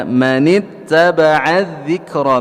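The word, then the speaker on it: مَنِ اتَّبَعَ الذِّكْرَ: Jadi cara membacanya adalah dengan menahan suara kemudian keluar udara ya. Manittaba'a dzikra, 1 2 3. Taib ya, jadi ditahan suara kita baru keluar udaranya, dahulukan syiddah baru keluar hamznya.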